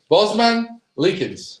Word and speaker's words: Bosmans-Leekens: here we are here we are Durk Mark Bosman leans yes pronounced it right correct 100% 100% you guys